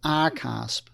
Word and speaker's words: RCASP: They're called reporting crypto asset service providers, which is abbreviated as RCASP and which many people pronounce as arasp.